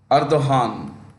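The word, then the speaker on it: Erdoğan: that capital Ankara and the president is received ardohan pronounce g pronounced with an H and their currency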